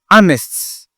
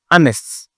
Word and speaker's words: honest: H, on ne prononce pas. Honest. Honest.